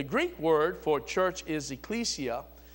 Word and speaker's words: Ecclesia: now the the Greek word for church is Ecclesia it's spelled e-c-c-l-e-s-i-a and which means something what does